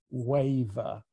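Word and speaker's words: Wayve: Ruby on the ship, she has a kind of a one-night stand with a brainless person whose name is Waver, W-A-Y-V-E. He pronounces it Wave.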